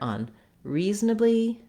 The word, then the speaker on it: unreasonably: the rhythm correct is to start on the stressed syllable, and that's a word as well, so it'll help you with that word. Reasonably, reasonably, and then add your un. Reasonably, unreasonably. You want to feel that that re is really the length. You don't want a lot of length on the un.